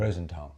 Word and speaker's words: Rosenthal: Rosenthal.